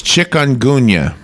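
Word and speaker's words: chikungunya: have the pronunciation okay it's got nothing to do with chickens oh but it's chick onun okay I am not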